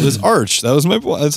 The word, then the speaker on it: Archspire: it was Arc, but it is me Arch. Too. It I've is heard Arch. Them, all the members that. Themselves have said it's spelled like Arch.